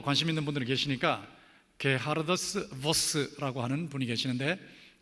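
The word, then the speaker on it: Vos: 보스라고 하는 분이 계시는데, 보스예요, 보스. 보스라고 하는, 보스는 우두머리를 말하고 보스. 제 입을 보세요. 보스. 게하르더스 보스. 한번 따라해 보실래요? 보스. 한국에는 B하고 이 발음에 구분이 없어요. 영어를 할 때 그냥 V하고 B하고 구분을 못해요.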